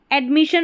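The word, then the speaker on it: admission: मी और शन परमिशन एडमिशन में भी ऐसा है ऐड हो गया ए डी को ऐड पढ़ेंगे एम आई को मी और डबल एस आई वन को अभी बताया शन ऐसे बड़ी स्पेलिंग्स को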